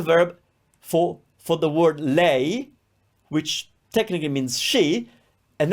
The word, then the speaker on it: lei: you are reading or writing when we say lay meaning she we don't capitalize the the first